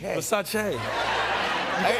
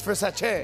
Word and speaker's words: Versace: Yeah, you immediately know that it's pronounced Versace. Versace. Now I know how sexy it is. Yeah. It's Versace.